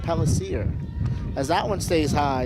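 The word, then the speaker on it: Pellicer: Augustine friends will tell you that it is pronounced Pellisier, as that one stays high, and it's 2-2.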